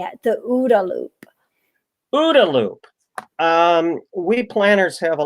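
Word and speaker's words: OODA: ODA Loop.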